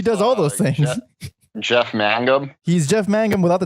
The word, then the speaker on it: Mangum: It's not pronounced like Magna. It's Mangum. Mangum.